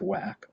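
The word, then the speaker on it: WACC: cost of capital are whack or just wack most people will just say whack here and they mean this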